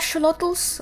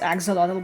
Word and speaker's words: axolotl: A lot of people pronounce them as axolotl, but apparently it's axolotl or something like that.